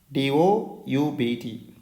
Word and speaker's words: doubt: Both of these words are pronounced the same but different in spelling.